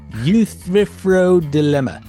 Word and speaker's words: Euthyphro Dilemma: So help me pronounce the song that you kick off. Euthyphro Dilemma.